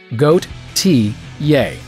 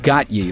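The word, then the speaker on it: Gotye: But if you're still having trouble, just remember this pictograph. Goat, T, yay. Got it? Good. Now stop saying got ye like some kind of uncultured swine.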